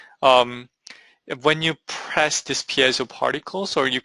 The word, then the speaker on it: piezo: or press it's pronounced PSO it has nothing to do with the pi unfortunately uh I know there's